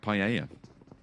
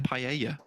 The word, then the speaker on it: paella: nowadays on it like paella uh paella yeah why are you saying paella that's how that's how you say in spanish two elves and yeah